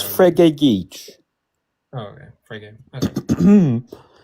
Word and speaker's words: Frege: You can, Frankie Geach can talk. Okay. Yeah. Go ahead. How do I pronounce it? Is Yeah, it? it's Frege Geach.